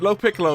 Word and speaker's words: LoPiccolo: Have I got that right, LoPiccolo? Is that correct pronunciation? Yeah, no, you got it.